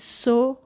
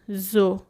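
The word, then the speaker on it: so: سوگود ن سو گود بچه‌ها اینجا حواستون باشه این سو خونده نمیشه تو درس اول که حروف الف با بود براتون توضیح دادم گفتم که اس اگر بعدش حروف صدادار بیاد ز خونده میشه اینجا او رو داریم بعد از اس پس ز خونده میشه زو نیشت زو گوت یعنی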